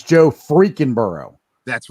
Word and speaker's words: Burrow: One thing I got to say, Jim, you said his name wrong. It's Joe freaking Burrow.